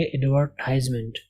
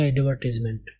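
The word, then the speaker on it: advertisement: ہوتا ہے، ٹھیک ہے۔ تو امریکن والے اس کو پڑھیں گے ایڈورٹائزمنٹ، ایڈورٹائز، یہاں پہ ٹائز کا وہ ساؤنڈ نکالیں گے۔ لیکن جب برطانوی اس کو پڑھے گا یا بولے گا تو بولے گا ایڈورٹیزمنٹ۔ تو جو امریکن اسپوکن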